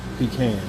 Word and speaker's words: pecan: So, and if you're further north, you you probably pronounce it pecans.